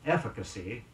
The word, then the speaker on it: efficacy: echelon in the word efficacy e FF IC a CY the stress is on the first syllable efficacy means capacity on producing